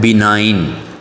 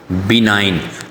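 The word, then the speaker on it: benign: Next जो word है वो है बिनाइन। इसमें बच्चों जी साइलेंट है। इसकी प्रोनाउंसिएशन आपने एहतियात से जरा इसको प्रोनाउंस करना है। बिनाइन।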